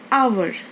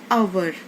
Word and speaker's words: hour: So here H is silent. So we are saying hour.